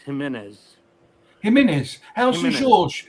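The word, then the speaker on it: Jiménez: That's actually pronounced Jimenez.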